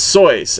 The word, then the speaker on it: Seuss: But the real pronunciation of that word is Seuss, as in Rolls Royce or whatever. Choice.